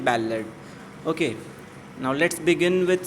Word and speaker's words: ballad: इसे बल्लाड भी पढ़ते हैं कुछ लोग, but actual authentic pronunciation is बैलेड.